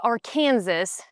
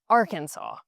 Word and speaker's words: Arkansas: State code 1-4-105 states that if you were to pronounce the state Arkansas, that that would be explicitly incorrect and the only proper way to pronounce it is Arkansas.